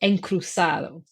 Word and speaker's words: Encruzado: Encruzado. Should I be pronouncing it differently? No, that was perfect pronunciation. I think that was bang on.